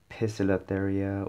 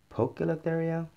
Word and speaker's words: Poecilotheria: this is my uh pocilitheria metallica uh possilitheria some people say it pronounce it pistylatheria or pocalatheria and uh the short